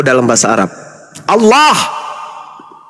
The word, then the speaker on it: Allah: Allah bukan Allah. Ini yang sering baca huruf Oin dalam bahasa Arab ini bacalah Allah. Bukan salat. Salat bukan huruf O.